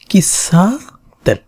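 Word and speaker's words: 喫茶店: সা, এটা ছিল তেন, এ হচ্ছে কফি শপ, কিসা তেন, কফি শপ।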